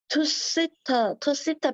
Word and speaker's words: Tusita: the eyes of the Tusita ram. 이 발음이 맞아요? Tusita ram? 투시타 비슷해요. 내가 찾아봤을 때 투시타 램. 투시타라고 돼 있었어요.